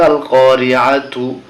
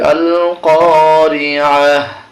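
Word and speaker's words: القارعة: বানান করলে হবে আল কারিআতু, কিন্তু যখন আমরা থেমে যাব তখন হবে আল কারিআহ।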